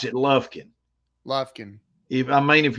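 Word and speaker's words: Lufkin: Frank k i n lovekin Lin only you pronounce it lovkin Lin if I mean if you're going to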